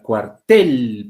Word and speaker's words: cuartel: mayor fuerza de voz la palabra cuartel por ejemplo tiene la mayor fuerza de voz en la segunda sílaba pero no llevan tilde